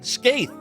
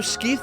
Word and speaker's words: Skeith: Skaith! We've all been saying it wrong. It's Skaith! It's neither Skeith nor Scythe, it's Skaith!